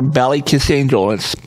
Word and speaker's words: Ballykissangel: You can also just search for Ballykissangel. It's spelled like it sounds.